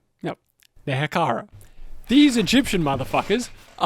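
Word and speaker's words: Nehekhara: So, this is where they would meet the name I hate trying to pronounce. Nekara. excuse me. No, Nehakara.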